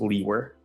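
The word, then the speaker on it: Liewer: name is and my last name is spelled l-i-e-w-e-r and it's pronounced Lee were and where are you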